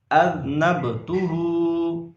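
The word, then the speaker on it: أذنبت: ربی من کل ذنب۔ اگلا لفظ پڑھتے ہیں۔ اذنبتہ، حمزہ ذال زبر اذ، نون با زبر نب، اذنب، تا پیش تو، اذنبتہ، ہا الٹا پیش ہو، اذنبتہ، اذنبتہ۔ اب ہم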